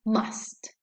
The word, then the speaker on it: must: bathroom on the contrary the strong form of must are pronounced with this vowel sound ah and the resulting pronunciation is must when must is used